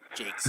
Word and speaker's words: Jakes: Uh, rhymes with cakes. Jakes.